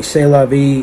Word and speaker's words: C'est la vie: package by the way c'est la vie it's pronounced with the s and t being silent say lobby anyway i'm